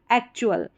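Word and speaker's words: actual: जैसे कि यहाँ पर AC हो गया, एक हो गया, और फिर चुअल, TUAL, एक्चुअल, इस तरीके से।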